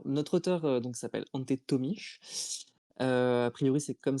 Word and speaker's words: Tomić: Alors notre auteur donc s'appelle Ante Tomish. Euh a priori, c'est comme ça qu'on le prononce à peu près euh comme le l'annonce